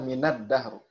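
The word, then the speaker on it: من الدهر: Tulisannya minal dahr, bacanya minad dahr. Nah, ya, ini ada kaidah tertulis, ada kaidah dibaca ya, dibaca tidak sebagaimana yang tertulis.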